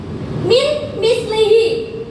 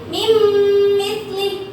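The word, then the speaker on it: من مثله: Berarti mim misli, bukan min misli, bukan tapi mim misli.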